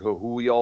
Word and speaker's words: Trujillo: He wasn't trying to be like the current bass player that they have now, Robert Trujillo. I think that's how his last name is pronounced.